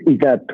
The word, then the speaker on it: Ezat: This is it pronounced Ezra? Yeah, so my name is Igat, which is E-Z-A-T, and I live in Cedar Park.